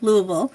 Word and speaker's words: Louisville: and I'm glad you reminded me it's Louisville Louisville because nurse Rosa who you know we all know um you know I I had to hear it from her a couple times before I pronounced it correctly but yeah I would